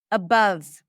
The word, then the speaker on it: above: Above. Above. Not above. Right? Even though there is an o here, that's a cup sound.